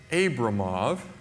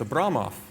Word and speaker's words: Abramov: Yeah, it's not Abramov, it's Abramoff. So, next time you see Daniel Abramoff, pronounce his name correctly.